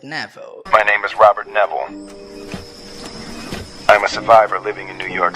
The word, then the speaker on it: Neville: ele pronunciou essas palavras ele pronunciou mais ou menos assim My name is Robert Neville My name is Robert nevel Robert nevel surv New